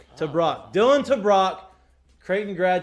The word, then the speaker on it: TeBrake: pronounce it can you tell me how to pronounce this to brock to brock to brock dillon to brock creighton grad transfer in not